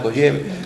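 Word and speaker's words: Kojève: Hegel es un autor muy complejo y las clases que da, se escribe Kojeve, no con J, Koyev, es espectacular.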